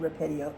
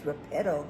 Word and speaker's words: Repetto: I said it right this time. I'm sorry, Steve. I've been saying Repetto. It's Repetto Hall.